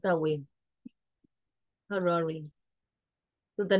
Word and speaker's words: Harare: Harare, we pronounce that way. Harare.